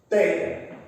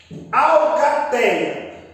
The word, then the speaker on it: alcateia: E a sílaba tônica pronunciada com maior intensidade não é a última, é a penúltima.